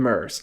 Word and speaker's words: Myr: I am playing some mirrors. Or, I'm sorry, I've been pronouncing this wrong based on everything that I see. Everybody calls them Murs.